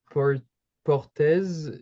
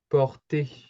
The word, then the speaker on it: portez: About the pronunciation, it's close. However, the Z isn't pronounced. On prononce pas le Z. So, to kind of help you with the pronunciation, you would pronounce it like in those brackets like this, okay? Okay, yeah. Oui. So it's not portes, it's like porter, okay?